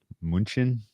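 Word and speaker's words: München: our Mighty Seahawks in Munich um Munchen I think is how they say it over there um I would look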